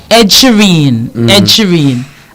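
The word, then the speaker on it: Sheeran: Ed Shireen.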